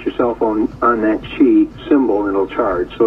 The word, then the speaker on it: Qi: It's a capital Q-I. It's pronounced Qi, C-H-E-E.